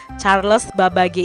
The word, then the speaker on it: Charles Babbage: babbage nah k-citra belum tahu ya ini cara pengucapannya Bagaimana kalau Charles Charles babbage ini mengubah dunia dengan komputernya Charles adalah seorang